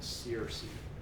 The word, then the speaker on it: Searcy: Searcy Music. Yeah. And how do you spell that? MarkSearcy. Like Sears. A lot of people pronounce it Searcy. Yeah. It's just Searcy. So it's Searcy.